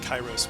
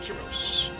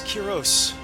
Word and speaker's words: Kiros: I am Prince kyos I know it looks like chyros but they pronounce it Kos I am Prince Kiros Shard somehow was able